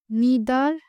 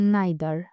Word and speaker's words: neither: এনই আইটি এইচই আর এই শব্দটারও দুইটা উচ্চারণ আছে তা হচ্ছে নিদার এবং নাইদার নিদার হচ্ছে আমেরিকান এক্সেন্ট আর নাইদার হচছে ব্রিটিশ এক্সেন্ট।